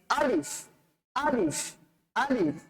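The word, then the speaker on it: ألف: আলিফ, আলিফ উচ্চারণ করার সময় আটা হবে শক্ত, তবে শেষের দিকটাতে ফায়ের উচ্চারণটা বাতাসটা বের হয়ে যাবে, একটু নরম হবে। শুরুটা শক্ত, শেষটা নরম। তাহলে আমরা বলতে পারি আলিফ, আলিফ, আলিফ।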